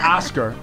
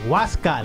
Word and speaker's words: Wascal: got um I have a cousin whose name is wasal not not Oscar no wascal we thought it was a nickname until we were about 15 and we were like yo bro that's a real name how do you spell it w a s c a l wascal so it's not Oscar and it's not rascal yeah no and I